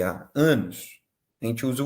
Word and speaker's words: en: Só que a pronúncia é an.